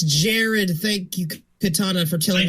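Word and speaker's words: Jerrod: is Jared, but the first time anybody ever said it out loud was Defenders of the Realm, where they pronounced it Gerard. It's Jared.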